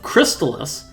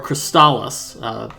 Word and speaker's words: Crystalis: And we're going to be commentating this race today of Crystalis, or Crystalis, whichever pronunciation you personally prefer.